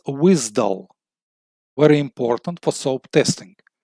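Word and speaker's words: WSDL: JSON WSP JavaScript object notation to web service protocol pronounced as wisdull very important for soap testing stands for web service description language.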